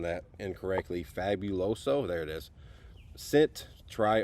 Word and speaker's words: Fabuloso: Over here we have the Ultra Strong Fabuloso. I think I'm pronouncing that incorrectly. Fabuloso, there it is.